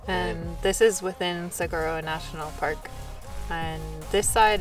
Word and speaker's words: Saguaro: So it's Saguaro National Park.